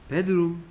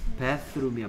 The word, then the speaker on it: bathroom: 예, 베스킨 라빈스 31 할 때 베드룸 이라고 발음 안 돼, 하면 안 돼. TH는 선생님이 소리 어떻게 소리 내라 그랬어? 혀를 살짝 물고 뭐 아니면 뭐 the 아니면 쓰라 그랬지. 그래서 욕실은 bathroom이야, bathroom. TH 써 bathroom이야, bathroom.